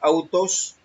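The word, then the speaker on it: αὐτός: Vamos con la primera parte, que es misma de su, es la palabra G846 del Strong, se pronuncia autos, como tercera persona, significa las otras personas, estas cosas, uno mismo, él, el mismo, ella mismo, este mismo, él mismo.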